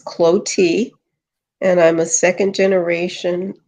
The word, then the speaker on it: Clottee: little bit about yourself my name is pronounce cloti and I'm a second